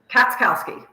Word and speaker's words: Katschkowsky: the audience so we can hear it correctly pronounced katowski katowski most people just call me